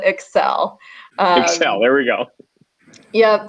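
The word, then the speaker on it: ECCEL: and emotions lab and we do pronounce it excel excel there we go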